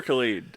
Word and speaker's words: Khaled: just like God did is it caliber Khalid I've never actually yeah I think it's Khalid I've only heard it